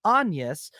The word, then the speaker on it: Agnes: But in the movie, her name is Anus, which is spelled A G- N.